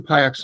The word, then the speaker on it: Piuck: There are only 2 Piucks on LinkedIn. The other one's my sister. So her name is Hope. If you get to Hope Piuck, you keep looking, but there's only one Piuck on LinkedIn.